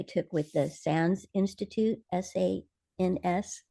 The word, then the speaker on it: SANS: with the SANS Institute, SANS. That's how I say it. Other people probably have different pronunciations.